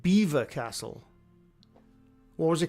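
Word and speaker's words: Belvoir Castle: Apparently it's pronounced Beaver Castle.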